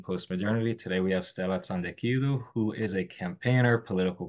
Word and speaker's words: Tsantekidou: back at Kracken postmodernity today we have Stella Sandu who is a campaigner political commentator writer currently